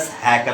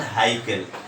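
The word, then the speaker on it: Haeckel: हैकल में ई और सी साइलेंट है, तो we will pronounce it एज हैकल, नॉट हाइकल.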